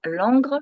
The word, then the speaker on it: Langres: Langres et je précise je prononce bien l'angle parce que quand je le dis rapidement les gens croient Londres ils disent oh génial alors l'angle c'est pas tout à fait longue mais ça a été